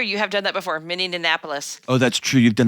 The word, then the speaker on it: Minneapolis: Oh that's true you have done that before miniapolis Oh that's true you've done that before few